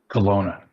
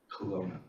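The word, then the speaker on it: Kelowna: Colona. Colona means black bear in in in native language.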